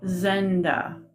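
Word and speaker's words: Zendah: okay so master and it he said Master Zenda that's am I saying it right Zen yeah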